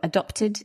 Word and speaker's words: adopted: And of course, let's talk about the pronunciation. So adopted, it's a past participle.